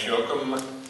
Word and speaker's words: Jochim: Hi, Jochim. It's pronounced like Admiral Jochim, if you remember that.